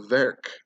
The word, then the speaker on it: Verch: All right, and Verc means daughter of, which is spelled V-E-R-C-H, hard C-H, not Verch, so Verc.